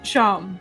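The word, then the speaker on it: Seam: The name's Sham. Pronounced Sham.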